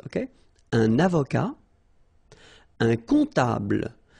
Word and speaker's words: comptable: Un comptable, so OM, remember, it goes like on, all right? And then, strangely, this P is not pronounced.